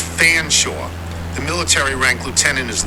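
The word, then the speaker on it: Featherstonehaugh: and it's pronounced Beaver Featherstone Hall is an English family it's fanore the military ranked Lieutenant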